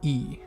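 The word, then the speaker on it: い: e good job and remember it's typed i but it's pronounced e and we'll see this several times going forward typed i pronounced e next up we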